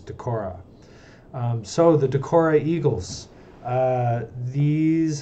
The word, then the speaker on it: Decorah: Eagles the Decorah Eagles I have been saying Decker for a very long time and I have the pronunciation wrong the pronunciation of the area is Decorah so the Decorah Eagles